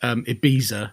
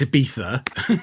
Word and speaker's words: Ibiza: but obviously over here, if there's a C or a Z in a word, it's a th sound. So you get people who call it Ibiza. No, it's Ibiza, spelled with a Z.